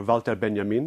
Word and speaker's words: Walter Benjamin: And honor cites minds no less powerful than Walter Benjamin or Walter Benjamin if we want to use the correct German pronunciation.